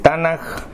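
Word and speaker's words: Tanakh: llama lección 2 el tanaj su estructura y su relación está nada miren aquí se escribe tan a conca pero se pronuncia con jota ganas puedes decir ganar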